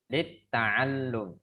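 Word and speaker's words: للتعلم: Nah, pada kata lam setelah ain itu ada tasdid, maka harus ditekan cara bacanya lit ta'allum.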